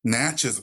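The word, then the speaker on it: Natchez: Park yeah n yeah how do you pronounce it natches okay that makes sense got get that drawal on it I guess well the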